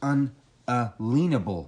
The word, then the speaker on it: unalienable: well you know the proper way to say that is un uh leanable rights okay a lien it's about property you have unalienable rights because you own your body nobody has a lien on your body you see